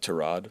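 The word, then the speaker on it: Tyrod: Correctly pronounced Terrod, but he doesn't correct people.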